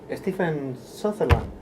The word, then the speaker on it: Stephen Sutherland: Today we are here with Stephen Sutherland. Have I pronounced it well, your name? Yes, you have.